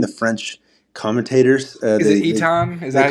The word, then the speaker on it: Ethan: Yeah, calling him that opposed to Ethan. Ethan's the Americanized way to say it.